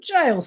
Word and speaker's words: Giles: Giles Sanderson. He pronounced it with a soft G, and it rhymed with piles.